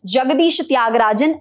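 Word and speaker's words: Jagadisa Thyagarajan: or little difficult to remember so let's just pronounce it again it's jagadishatyagarajan also known as AKA are Ashoka mithran let's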